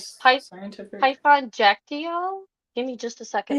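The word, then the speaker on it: Kyaiktiyo: want to say like Python, I think you pronounce it Jactio, Hmm. something like that. It starts with a K, but it's pronounced with a J.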